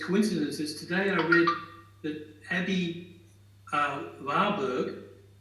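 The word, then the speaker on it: Aby Warburg: But in harmony with all these coincidences, today I read that Abby Warburg, this is German pronunciation, said that a book is a vehicle that can go in any direction, which I thought was great in relation.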